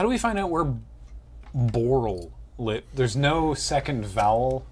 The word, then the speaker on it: Borl: Borl's name is one syllable.